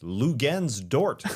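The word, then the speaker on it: Luguentz Dort: Lou Gens Dort is the way they say his name in intros. I didn't know that was coming. Thought it was just going to be a Lou.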